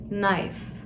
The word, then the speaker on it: knife: K harfini sessiz okuyoruz. Knife.